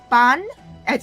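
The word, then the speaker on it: Bunyip: Bun as in like bun and yep. So put them together.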